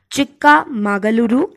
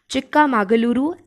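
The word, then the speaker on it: ಚಿಕ್ಕಮಗಳೂರು: बहुत easy according to मी, एक बार आप प्रोनाउंस करके देख लेंगे आप लोग को बहुत इजी लगेंगे, that is चिक्का मागलुरु and Tumakuru. I'm repeating again, चिक्का मागलुरु and Tumakuru.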